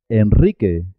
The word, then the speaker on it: Enrique: rumanía rudd doble también suena doble cuando la r va después de l n o s se escribe simple una sola r pero suena doble por ejemplo en alrededor de alrededor enrique enrique iglesias israel israel